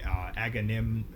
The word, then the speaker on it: Agamemnon: Agamemnon Aga Agamemnon.